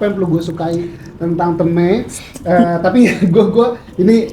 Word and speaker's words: Teume: Teme itu teume kan ya? Bacanya teme. Teme. Oh, bacanya teme. Eh, dari treasure maker. Kalau di Korea itu treasure itu dibacanya trejo. Maker jadi meko. Nah, jadi trejo meo jadi tee.